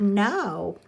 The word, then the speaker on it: know: learned yesterday in saxon it has a silent K at the beginning so that's kind of